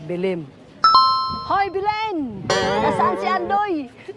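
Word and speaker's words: Belém: so swerte niyo mga bilin kasi may ginawa pala kayo dito na building joke ang tamang pronunciation pala bilim ho bilin Nasaan si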